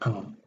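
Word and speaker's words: ㅇ: Kalau di bawah dibacanya eng. Bukan dibaca ng tapi eng.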